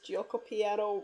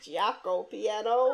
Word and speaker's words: Gioco Piano: Napoleon also pronounces Gioco Piano wrong in the episode. When he says it, he says Giaco Piano.